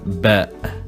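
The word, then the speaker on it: ب: Then we have ba, and we pronounce it b, like a normal b.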